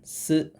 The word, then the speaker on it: ツ: ครับ ซึ ซึ คือ ให้ เอา ลิ้น เนี่ย ไป ดุล เพดาน นิด นึง เรา ก็ อาจ จะ แบบ เผยอ ปาก หน่อย ๆ นะ ฮะ ลิ้น รุน เพดาน เผยอ ฟัน หน่อย ๆ ซึ ซึ ซึ อ่าน ว่า ซึ ซึ โรจิ ก็ จะ